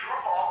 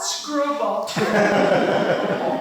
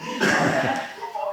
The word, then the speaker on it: Schroeppel: She's a former historian for the town of Schroeppel. Did I pronounce that right, Barbara? No, Schroeppel. Thank you. Schroeppel and Oswego County.